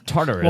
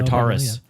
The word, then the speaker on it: Tartarus: It's Tartarus. Water planet. So Tartarus.